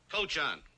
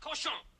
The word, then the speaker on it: cochon: This barn is not fit for man nor coach on. Butcher. Better to spend the time killing the roaches in your plague-ridden bistro than murdering my rhymes. The word is pronounced cochon.